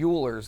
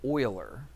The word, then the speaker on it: Euler: You would think it would be Uler's line, don't you? But he doesn't pronounce it like that. They pronounce it oiler.